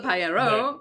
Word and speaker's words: paellero: On the paellero, which is, yeah. Very good. You got the double L right.